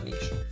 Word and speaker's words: niche: Or a niche. Is it niche or niche? Niche.